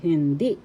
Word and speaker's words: hindi: First syllable hin, second syllable di. The second syllable has the accent hindi.